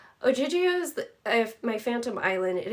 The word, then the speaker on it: Ogygia: She pronounced it like Ogygia.